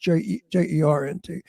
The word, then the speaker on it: joint: I said, "It's Joint, but pronounced Jernt.